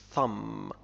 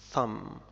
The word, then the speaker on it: thumb: thumb thumb، الإبهام. finger on the side of the hand. tomb tomb، a building for dead bodies، قبر. tomb. thumb thumb، هو الإبهام، سبق أن ذكرناه هنا.